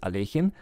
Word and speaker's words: Alekhine: of this player and the correct pronunciation of his last name is alejin but actually a lot